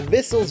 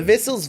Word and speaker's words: Vissles: in my hand the vessels v84 if thistle sounds familiar to you it's because it rhymes with bristles also I've covered one